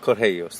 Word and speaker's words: Correios: Correios, there you go.